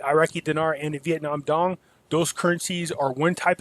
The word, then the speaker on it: dong: That's Vietnam dong. By the way, I found out you're not supposed to pronounce the G, just like when you say Alkademi.